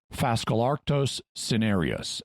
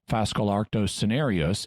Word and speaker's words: Phascolarctos cinereus: of the common koala, which is Phascolarctos cinereus. And yes, I'm using a basically English pronunciation, even though this name is partly based on Greek and Latin, because I don't want to be too much of a language geek at the moment.